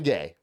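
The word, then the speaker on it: Gaye: So, Marvin Gay, first of all, his name his last name is spelled G A on that's that's what he's built as. Okay. But it's actually G- A Y.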